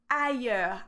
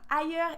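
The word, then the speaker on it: ailleurs: somewhere else ah yeah so we have a year sound the yes sound is not is in French is usually when you have a y or when you have the I and the Double L there's some exception but most of the time when you see a i with Double L is this sound yeah so here we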